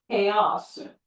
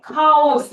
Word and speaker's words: chaos: 자, 어떻게 읽어요? chaos, chaos. 다른 단어죠? 자, 여기 액센트 있어요. chaos, chaos. 네, 카오스. 그럼 아무도 못 알아들어요.